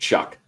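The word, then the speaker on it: Shough: Yeah, it's actually how you say it, Shuck.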